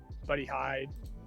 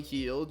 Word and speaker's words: Hield: Same with Buddy Hyde. I probably pronounced that name wrong. Buddy Hield.